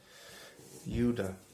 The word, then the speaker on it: Judas: passion of the christ yudha sounds a bit like yoda that definitely not a